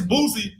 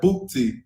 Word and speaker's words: Boosie: Yeah, you know, you put that little T, it sound like Bootsy.